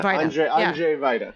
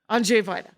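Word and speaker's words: Andrzej Wajda: Andrzej Vaida. Yeah. Andrzej Vaida. So Andrzej Vaida is our director.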